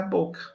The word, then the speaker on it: boca: Boca com 2 Cs, né? CC. O C redobrado aí. Mas a pronúncia era boca. Não influenciava.